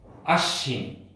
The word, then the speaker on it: আশ্বিন: আশ্বিন, স এর সাথে কিন্তু একটি ব ফলা আছে, এই ব ফলার উচ্চারণ হয় না, সেজন্য আমরা লিখব ফলাকে সবসময় লিখব তালব্য স যোগ ব ফলা।